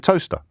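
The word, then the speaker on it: Towcester: Matthew's in Toaster, which I pronounced correctly.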